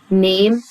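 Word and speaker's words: name: يلا نشوف اسم يعني نيم نيم الايه في الاخر برض ما نينطقهاش اسمي انا اقول ماي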